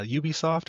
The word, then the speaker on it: Ubisoft: If only 33 uh um uh devs at a French studio, which uh like outside of like uh Ubisoft or Ubisoft, how you want to pronounce it, and a few others, aren't a lot of French studios.